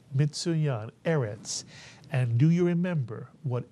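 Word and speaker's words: ארץ: series of from the alfet the word is pronounced erets mitan erets and do you remember what erit means yes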